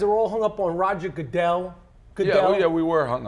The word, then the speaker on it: Goodell: a whole long what do you think Roger godell how do you pronounce his name go the same way you pray asazi the same way I pronounced popcorn or hudu Roger Goodell name ever heard of it Roger Goodell godell